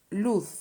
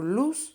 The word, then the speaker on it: luz: but like an s the thing is that both options luth or luz are correct you just have to